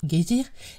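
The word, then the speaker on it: Geysir: une hauteur de dixoise le geyser moque les Islandais prononcent guésir et qui signifie fureur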